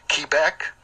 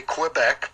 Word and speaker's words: Quebec: Oscar papa the sleigh they want us to say it key back some of us might say Quebec but the official pronunciation is Quebec Romeo Sierra tango uniform